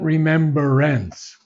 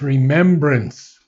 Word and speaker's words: remembrance: make a mistake on we say remember but it's not remembrance it's remembrance remembrance r-e-m-e-m-b-r-a-n-c-e there's no ER in that no remembrance remembrance good